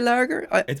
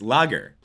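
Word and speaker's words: lager: Why Why are you uh is it is it weird that I say larger? There's no R in it. It's lagger.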